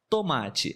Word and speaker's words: tomate: tomate é muito bom tomate é um ótimo exemplo porque no início da palavra nós temos tô e no final temos ti na nossa região pelo